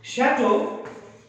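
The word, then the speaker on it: château: Chateau is again a French word.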